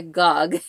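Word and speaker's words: Gág: of her before because it looks like G A you would think gag but it's Gog they told me when I went in her home that her name was Wanda Gog so just so you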